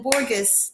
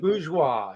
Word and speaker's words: Borges: up for b borges did i say it correctly almost hi millie and thank you it is pronounced bourgeois as in the middle class oh my gosh i